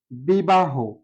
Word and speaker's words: বিবাহ: যেমন বিবাহ, বিবাহ লিখেছি বিবাহ, এটি হচ্ছে সঠিক বানান, কিন্তু যখন আমরা উচ্চারণ করব তখন বলি বি বা হো, বি বা হো, অর্থাৎ শেষে হ আছে।